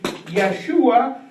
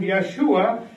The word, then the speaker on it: Yeshua: Joshua means actually Yeshua, like the same, if you pronounce it in Hebrew, Yeshua, and Yeshua is Jesus.